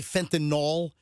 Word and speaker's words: fentanyl: fentanyl, and they say fentanyl. It's Fentanyl. Fentanyl. Fentanyl. It's not NOL. It's not NOL. It's not like Tylenol.